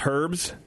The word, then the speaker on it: herb: When you cook, do you use herbs? Yes. Yeah, you with would. Herb. Not herbs? Not herbs. There's a whole letter there that's missing out, you know? It's silent.